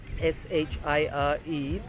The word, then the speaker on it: shire: So, for example, the word shire, S-H-I-R-E, which means county, will be pronounced shire.